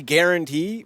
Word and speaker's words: Guaranty: It's actually guarantee, but it's spelled Guaranty.